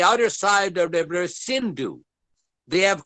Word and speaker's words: Sindhu: Indus River, which is now in Pakistan, which is spelled Hindus, I-N-D-U-S. In Sanskrit, it is called Sindhu.